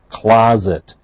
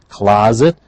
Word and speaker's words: closet: your the word is closet please notice the pronunciation the S is pronounced as a zed closet a small area for